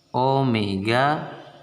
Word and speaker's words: Omega: Oke sedangkan Omega itu Ini bacanya Omega ya simbolnya W tapi dibaca Omega Omega itu kecepatan sudut